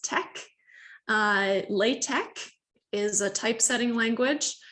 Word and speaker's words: TeX: So instead of text, it's pronounced tech.